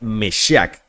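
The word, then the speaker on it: משיח: En las religiones abrámicas, el Mesías, del latín bíblico Mesías, y este es a su vez del hebreo Mashiach o Meshiach, pronunciación aproximada Meshiach, que significa ungido.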